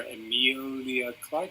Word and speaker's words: Emilia Clarke: I don't like her at all, and I feel really bad for Emilia Clarke.